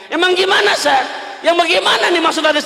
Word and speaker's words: ustadz: Bacanya ustaz ada denya.